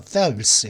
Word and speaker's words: Phelps: 발음할 때 펠프스라고 그러는데 보통 PH 사운드는 F죠. 그죠? 필라소피 할 때도 필라소피가 아니죠. 그냥 필라소피죠. 그죠? 필라소피. 그죠? 뭐 필립스가 아니죠. 필립스공이 아니죠. 필립스공이죠. 필립스공. 그죠? P 발음이 아니라 F 발음이 되죠.